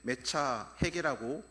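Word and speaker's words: מְצַחֵק: 여기서 놀리다라고 번역된 히브리어는 메차핵이라고 발음을 하는데 이삭의 이름은 이츠학이라고 말을 합니다. 뿌리가 같은 단어에서 나왔습니다.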